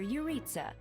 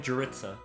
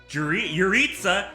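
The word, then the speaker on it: Jeritza: This is Professor Yuritsa, our weapons Oh my instructor. god, I've been pronouncing that one wrong too. That one's like actually pronounced Yuritsa though. Just like Geralt, I've been calling him Juritsa.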